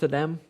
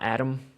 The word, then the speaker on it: Adem: I think it's pronounced Adem, not Adam, seeing as it's spelled with an E.